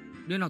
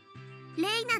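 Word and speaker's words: レイナ: それでレイナじゃなくてレナって読むのか。面白い読み方だよな。違いますです、レイナで正しいのです。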